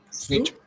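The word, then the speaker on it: suite: Sweet. Sweet. Sweet. Yes. It seems that you are tend to call it suit, but instead of this, it will be pronounced sweet.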